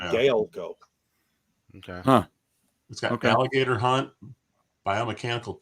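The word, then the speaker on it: Gaelco: it or is it galico i've heard it as galico or gallico yeah it's spelled g-a-e-l-c-o so it'll be like gale go okay huh alligator hunt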